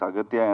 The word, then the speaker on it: Aghathiyaa: In both ways, it is pronounced. Yeah, it's Aghathiyaa and also Agasthiyaa.